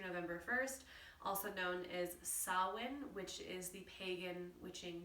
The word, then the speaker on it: Samhain: 1st also known as sawin which is the pagan witching new year you might see that word actually um around social media it's spelled very differently than it's pronounced it's spelled s-a-m-h-a-i-n so you'll see it